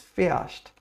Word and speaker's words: fährst: The h in German isn't that strong, we don't pronounce it, we don't say fährst. It's fährst, yes?